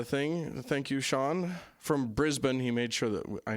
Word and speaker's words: Brisbane: thank you Shan from Brisbane he made sure that I knew how to pronounce Brisbane as opposed to Brisbane or something important in